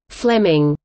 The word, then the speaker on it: Fleeming: Fleming, pronounced as Fleming, so we're informed by his one-time student Robert Louis Stevenson, who wrote an affectionate memoir of him.